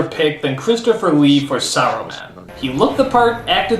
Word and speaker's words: Saruman: It's pronounced Saruman! The S isn't silent!